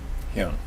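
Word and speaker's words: 형: He's been in national, international publications demonstrating his much sought-after knowledge of joint manipulation, the use of Korean-style weapons, and is it pronounced hyung? Hyung. Hyung.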